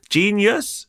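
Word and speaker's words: jeen-yuhs: Genius? I'd say so, yeah. It's not spelled like genius, just for people listening. I'm not that dumb. It's spelled like how Kanye would say it and possibly spell it.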